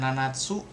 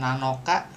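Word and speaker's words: 七: ke bawah kanci tuuh Ini dia bisa dibaca nanatsu. Nanatsu berarti ee tujuh buah, tujuh benda. Bisa dibaca nanoka 7 hari atau hari ketujuh. Tanggal 7 dia dibaca si kalau untuk tangga apa? Bulan tahun gitu ya. Siichigatsu, siinen, kalau untuk orang bisa dua-duanya tuh siinin atau nananing gitu ya.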